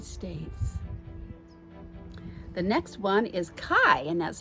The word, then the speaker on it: Kai: The next one is Kai, and that's how it's pronounced, but it's K-A-I.